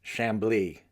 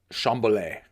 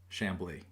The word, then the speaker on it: Chamblee: I believe it's pronounced Chamblee not chamberlay for the record Brandon Chamblee it's pronounced Randall Chamblee not Chamblee it's not some fine wine it's just shambly people should keep in